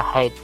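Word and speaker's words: height: the hundred MP3 high kalau karena ini kata benda ya ketinggian maka dibaca haid tapi kalau tinggi dibaca Hai bye agak sulitnya awan-awan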